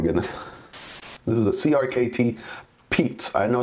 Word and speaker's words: Piet: this is a crkt peat I know it's not spelled oddly there p-i-e-t but it's pronounced Pete this is a Jasper